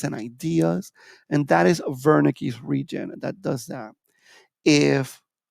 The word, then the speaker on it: Wernicke's: And I know it's spelled Wernicke's with a W, but it's Wernicke's region.